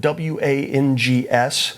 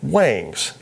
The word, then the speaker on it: Wangs: First off, it is spelled W-A-N-G-S, so I was initially pronouncing it Wangs.